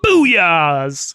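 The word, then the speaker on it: Bouyea's: It's spelled Bouya apostrophe S, as in booyahs.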